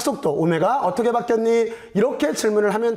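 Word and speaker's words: omega: 오메가. 여기다가 오메가로 이렇게 쓰면 돼요. w라고 읽으면 안 돼요. 오메가예요. 오메가.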